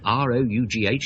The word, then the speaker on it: rough: There is a principle, I suppose, why R-O-U-G-H is pronounced rough, but don't apply it to the word though or anything like that.